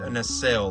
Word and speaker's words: Nacelle: A NL, that's how you pronounce it.